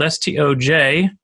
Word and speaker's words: Stoj: that goes back to my name being spelled St OJ however it's pronounced sto and like boy and so my handle